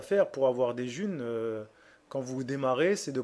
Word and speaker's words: Ğ1: le mets à 5 juin la monnaie s'appelle j'ai un jus ça se prononce jeune je mets un stylo